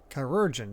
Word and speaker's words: Chirurgeon: Chirurgeon. Thank you. Yeah, that's nice to know how to pronounce.